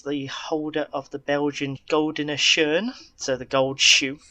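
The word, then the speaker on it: Gouden Schoen: holder of the Belgian Goldene Schoen, so the gold shoe. Good pronunciation. You've practiced that. Yes, I know. You've practiced that. Well, Dutch. Why not? It's better than the French pronunciation.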